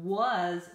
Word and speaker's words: was: had on your list so was lwas looks like it should be waz doesn't it but it is was that's how we spell it so if you need